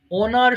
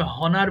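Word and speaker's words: honour: এটা অনেকে ভুল করে হনার বলে ফেলে হ্যাঁ এই যে ও এর পূর্বে যদি এইচ আসে সেটা অনার হতে পারে অনেস্ট হতে পারে আওয়ার হতে পারে সেখানে আর এইচ এর উচ্চারণ আমরা করবো না সো একটু বলেন অনার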